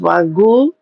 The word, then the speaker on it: wagyu: But listen, I'll pay someone wag it's pronounced wagu.